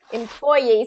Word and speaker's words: employee: Employee. So let's do actually that second syllable stress.